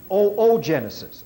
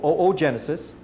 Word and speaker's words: oogenesis: And the other half is the female egg, which is pronounced oogenesis, although it's spelled O-O, and then Genesis is the long O, oogenesis.